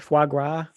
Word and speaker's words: foie gras: Fagua? Fogua? Foie gras.